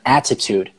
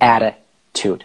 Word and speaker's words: attitude: همون ر تلفظ بشه پس ما نمیگیم مثلا اتیتود میگیم اتیتود مثل آره برو درو اره اتیتود اتیتود اتیتود نکته